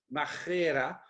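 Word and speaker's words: μάχαιρα: je vais le dire, machira. C'est pas important de savoir l'écrire, hein, mais pour les quelques-uns qui veulent savoir, M-A-C-H-A-I-R-A, mais c'est prononcé comme un peu à l'espagnol, hein, machira.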